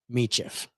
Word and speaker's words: Michif: me Jeff yeah Egypt m e t c h i f so it's pronounced mitchif Mischief okay I don't know